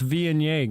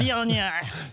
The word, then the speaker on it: Viognier: Well, that's Viognier, guys.